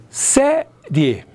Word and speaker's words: Série: Essa última sílaba, rie, eu pronuncio assim, rie, rie, onde eu tenho a vogal o E e o I semivogal. O que está acontecendo aqui? Está acontecendo que a semivogal vem antes da vogal.